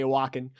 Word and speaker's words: Wacken: And I've seen video of them at the Wacken Open Air Festival, for instance. I think I'm pronouncing that right. Wacken. That's correct. Yeah, because the W has a V sound to it. It's German. Oh.